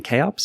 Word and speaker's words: kops: platform do you have a preference on the pronunciation first of all we didn't and we are now recommending chops it better communicates what we think our value